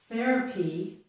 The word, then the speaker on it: therapy: If this string of letters THER occurs at the beginning of a word, such as in this word, therapy, then the TH is usually pronounced with the voiceless sound.